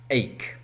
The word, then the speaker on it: ache: C H E but the pronunciation si not accc or asshh, it's ACHE.